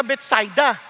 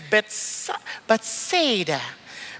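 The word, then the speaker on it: Bethsaida: Philip taga doon taga betsida ba nararapat lang baka iba sa inyo mahigpit kayo sa English expression pronunciation sa english kasi beta pero sa hebrew besets ay sa mga Hudyo betsida Okay lang ha kaya hwag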